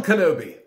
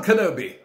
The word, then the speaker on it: Kenobi: He doesn't pronounce the I, it's almost an A when he says Kenobi.